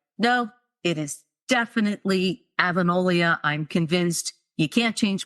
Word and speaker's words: Avonlea: And I had it stuck in my head that Anne lived on the island of Avonlea off the coast of, Nova Scotia.